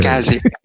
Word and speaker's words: Cazier: Tama ba yung pronunciation ko or Kazer? Kazier. Kazier. Kazier.